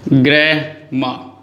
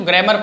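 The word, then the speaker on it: grammar: जैसे मैंने आपके सामने लिखा ग्रैमा, ये ग्रैमा, अच्छा बहुत सारे बच्चे इसको ग्रामर पढ़ते, ग्रामर नहीं होता, ग्रैमा क्या होता है, ग्रैमा होता है, मतलब आर यहां साइलेंट है।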